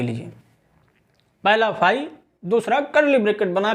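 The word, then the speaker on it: phi: इट इज a Greek letter pronounced as फाई।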